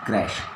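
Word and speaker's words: crèche: CRECHE. Pronunciation crash.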